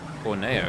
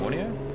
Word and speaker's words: Borneo: Borno, isn't it? Borneo. American pronunciation is suspect.